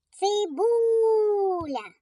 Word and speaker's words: Цибуля: Цибуля. Покличемо її. Цибуля. Наголос падає на звук у.